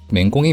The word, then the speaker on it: 黽: 부수를 모두 알아보도록 하겠습니다 맹공에 맹자는 맹꽁이 나 힘쓰다 노력하다 라는 뜻을 가진 그 자입니다 이 글자는 맹꽁이 를 뜻할 때는 맹 으로 힘쓰다 나 노력하다 라고 할 때는 민우 로 발음합니다 맹꽁이가 열심히 울어대는 모습에서